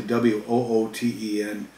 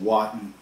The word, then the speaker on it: Wooten: and at some point he changed his spelling to w-o-o-t-e-n because he probably got sick of being called watton like it was spelled so he spelled it the way it sounds the way it pronounced so wooten anyway on to my